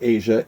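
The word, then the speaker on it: Aja: which is a classic, Asia, A-J-A. And I think that's how you say it.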